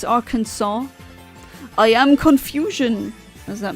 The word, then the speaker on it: Arkansas: I'm just kind of annoyed that the state called Kansas is pronounced as Kansas. And it's not Arkansas, it's Arkansas.